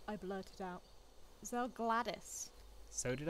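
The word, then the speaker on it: Zelgadis: Zegladesh. Finally deciding to show your face, I see. That didn't sound right. Gary, I think it's pronounced Zell Gladys? It's Zell Gladys.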